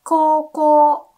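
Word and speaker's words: 高校: For example, high school, we say koko, koko. Again, we do write like ko, u, but it's koko, okay?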